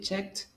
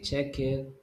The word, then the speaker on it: checked: How can you know how to pronounce it? Because the last sound that you're producing, like the K, doesn't have vibration. So you say check. No vibration. So pronounce the ED like a T.